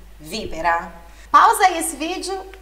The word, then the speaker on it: víbora: No italiano não tem, mas a sílaba forte, a sílaba tônica é sempre o vi, víbora.